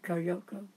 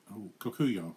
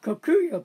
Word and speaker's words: Kokuyo: Also, there's some, how do you say with a K, Koyoko? Kokuyo. Kokuyo paper is another great paper.